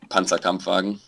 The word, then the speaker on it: Panzerkampfwagen: Then how do you pronounce the long word? Well, Panzerkampfwagen.